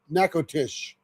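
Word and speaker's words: Natchitoches: Nack nack nakotish. Nakotish. Of course, Trudy would know. Nack nacatish. Natish. Oh, you don't pronounce. It's not like match like match. It's nac nakotish.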